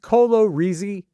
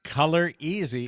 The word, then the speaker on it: Color Easy: And Was it not pronounced Colo Reezy? It's Color Easy. Color and Easy.